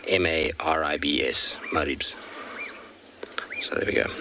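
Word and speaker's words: Maribye: m a r i b y e and pronounced m-a-r-i-b-s maribs so there we go i should be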